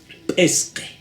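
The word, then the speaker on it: pisqi: estas consonantes, entonces dirá, ¿cómo se lee? Pesque, ¿no? Pesque. La escritura dice pisqui, ¿no? Es diferente la escritura.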